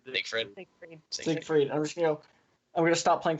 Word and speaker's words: Siegfried: Siegfried.